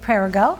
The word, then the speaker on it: Perregaux: We're here with Perregaux, and we're talking about mortgages.